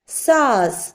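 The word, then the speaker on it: साँस: അടുത്തത് അതുപോലെ സായുടെ മുകളിൽ അനുനാസിക് ഉണ്ടെങ്കിൽ സൈലന്റ് ആയതുകൊണ്ട് സാസ്, സാസ്.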